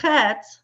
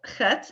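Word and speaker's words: חית: as an H, but it is very wrong to pronounce it as an H. It is not an H. The hey is the H sound, the breath sound. The chet is a very throaty, very non-English sound.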